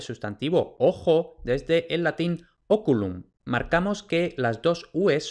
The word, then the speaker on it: oculum: es la penúltima sílaba y como es breve eso significa que el acento va en la sílaba anterior por eso oculum ocol esto es importante